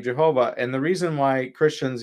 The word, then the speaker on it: Jehovah: For thousands of years, Christians called God's name Jehovah, until the scholars later came up with, oh, that's not how it's pronounced, that's pronounced Yahweh. But Christians used the name Jehovah, and the reason why